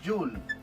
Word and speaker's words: Joule: utilizar el nombre, se escribe Joule y se pronuncia Joule, de esta manera, ¿verdad?